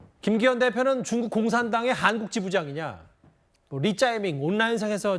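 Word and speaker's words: 李在明: 아세요 온라인상에서 일자이민이라고 불러요 리자이밍 이재명 이름에 대한 중국식 발음이 있는데요 한국 중국 축구 하는데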